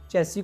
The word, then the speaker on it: chassis: सबसे पहले हमने क्या बात की थी, चेसी का प्रोनाउंसिएशन, की चेसिस नहीं बोलना, चेसी बोलना है टेक्निकली, वैसे लैंग्वेज मैटर नहीं करती, ये भी क्लियर किया था साथ में।